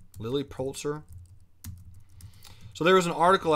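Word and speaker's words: Lilly Pulitzer: pronouncing that right ladies lily poultzer like the pulitzer prize am i am i saying that right lily poultzer so there was an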